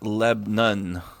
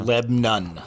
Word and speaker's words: Lebanon: Sure enough, it is pronounced Lebnon. There you go. Lebnon. Lebnon, Tennessee.